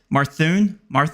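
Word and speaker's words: Mathurin: We just took Gafford, Benedict Marthun, I think it's how you pronounce his name. Never had to pronounce his name before. Marthun? Methuen. Yeah, Methuen.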